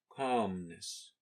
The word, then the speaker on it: calmness: we never click so the opposite is calmness there is no sound l in this word calmness the next exercise is